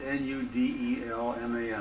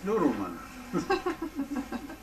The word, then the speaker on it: Nudelman: He says, N-U-D-E-L-M-A-N. I said, that's not Nudelman, that's Noodleman.